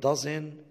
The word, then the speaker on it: doesn't: Doesn't طير الت.